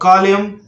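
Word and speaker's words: column: तो इसको बोलना है आपको गवर्नमेंट और कॉलम, कॉन्डेम। तो इस तरह से उच्चारण करना है।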